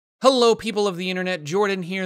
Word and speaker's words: Jorphdan: Jorphdan here. The PH is silent.